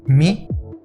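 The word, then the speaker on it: μ: Esto nos cambia las pronunciaciones de estas letras que pasan a ser Mi, Ni, Y y Taf.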